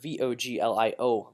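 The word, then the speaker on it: voglio: and then that word vo GLI oh boy yo you do not say the G whenever there's a GL on Italian you're not going to pronounce the G Royal Ahmad oh and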